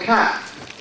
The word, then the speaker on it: calf: The baby dolphin is called calf. Or baby cow. Baby animal is called calf. Okay? Baby animal is called calf. The L is silent.